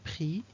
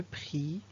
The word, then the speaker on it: prix: Le X de prix, le prix.